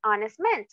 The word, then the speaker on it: honest: escucha con una O aunque estas palabras tengan esta H esta H está ahí pero no es entonces aquí es donde vamos a hacer uso también del artículo a con palabras que lleven una H muda Por decirlo así okay an honor un